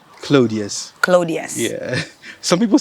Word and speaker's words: Claudius: How do you pronounce the last name? Claudius.